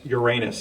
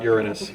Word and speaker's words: Uranus: can tell you that it's pronounced Uranus and not Uranus that's as much as